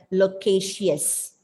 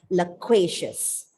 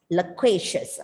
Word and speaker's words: loquacious: one particular syllable and the unstressed syllables are reduced to the schwa sounds and that gives the pronunciation of this word as loquacious loquacious okay and now let's